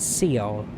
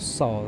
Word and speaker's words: Seoul: Yes, Seoul, but I keep pronouncing it Seoul for whatever reason. But Seoul is how it's actually pronounced.